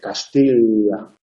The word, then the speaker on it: Castilla: Sí, Castilla. Castilla. Ahí estaría pronunciando cómo se pronunciaría originalmente la doble L.